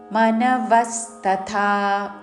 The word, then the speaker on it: మనవస్తథా: అక్షరములోని త ద్విత్వము చేస్తూ చత్వారో మనవస్తత వ మీద ఆఘాత చివరిలో థ మహాప్రాణక్షరము థ దీర్ఘముతో తధ అని ధ పలకకూడదు మనవస్తతా చత్వారో మనవస్తతా